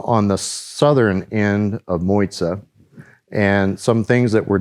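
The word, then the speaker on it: Mozia: There is a small secluded island that is protected, and it's pronounced M-O-Y-T-A in English or M-O-Z-I-A in Italian or Moiza as they pronounce it.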